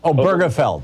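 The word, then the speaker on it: Obergefell: me the the the gay marriage case felt oh burgerfeld thank you if i can hear somebody saying i can pronounce it correctly um you know all those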